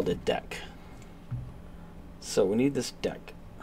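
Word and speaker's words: deque: return to DQ or deck object. The name is pronounced deck and is short for double-ended queue.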